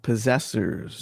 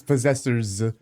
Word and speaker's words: Possessor(s): a special project that you worked on called Possessors. Um, Possessor. Possessor. Is that how it's pronounced? Yeah, it's possessor's but not but it doesn't belong.